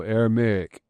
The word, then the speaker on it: Aramaic: Aramaic.